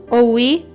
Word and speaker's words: oui: francês que eu sei é oui que significa Sim e eu aprendi recentemente que se escreve o u i não w e e pelo menos as